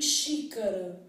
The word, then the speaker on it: xícara: de X né então quando eu penso em x com som de x x com som de ch é o que cara aparece por exemplo em xícara eu posso ter um